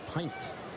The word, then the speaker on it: Pint: pitcher for the Rockies last name is pronounced pint Riley p p i